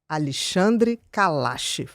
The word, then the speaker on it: Alexandre Kalache: is an epidemiologist and gerontologist, his name is Alexandre Calache, I said it right, I said it absolutely